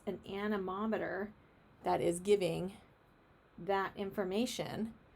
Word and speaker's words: anemometer: Anemometer. Everyone say anemometer. Anemometer. Or some people may pronounce it anemometer. Anemometer? I think it's anemometer.